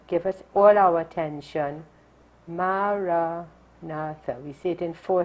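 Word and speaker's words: Maranatha: language that Jesus spoke and so we say it in four equally stress syllables so we sit up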